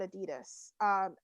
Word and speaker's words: adidas: so really we say adidas here but it's it's adidas is actually how that's pronounced the german company and yeah so i go to my contact for adidas and i said you